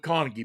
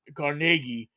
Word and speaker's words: Carnegie: Now, if you're smart, you go with Carnegie, because that's the way it's pronounced. But yeah, no, you got the whole Carnegie.